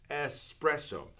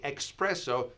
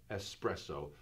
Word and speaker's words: espresso: writing in this way you write the word espresso it's just an S espresso so when you say expresso and if you're doing